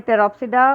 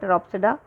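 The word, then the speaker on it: Pteropsida: तो इसमें टेरोप्सिडा और टेरिस में पी साइलेंट है, इसलिए इसको बोल रहे हैं टेरोप्सिडा, टेरिस, ड्रायोप्टेरिस और एडियांटम।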